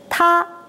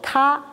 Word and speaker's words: 他: 他. 他. Say he. 他. We want to become they are 他们他们他们好吗? In Chinese, this also called ta.